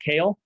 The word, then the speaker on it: Kale: Is it pronounced kale? Yes. Like the leafy green?